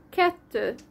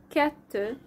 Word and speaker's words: kettő: 2 is kettő in Hungarian, kettő, and in Russian dva.